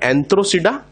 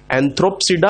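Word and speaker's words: Anthocerotopsida: Hornworts का नाम है एंथ्रोसिडा, और मोसेस का नाम है ब्रायोसीडा। यहां पर पी का यूज नहीं करना है क्योंकि पी साइलेंट है। हेपेटिकोसीडा, एंथ्रोसीडा और ब्रायोसीडा, ना कि हेपेटिकोप्सीडा, एंथ्रोप्सीडा और ब्रायोप्सीडा।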